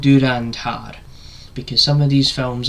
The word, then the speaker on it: Dhurandhar: So I put the effort in and I managed to figure out the fact that it's called Durandhar because some of these films I watch these Indian movies some of the titles they can be hard to pronounce.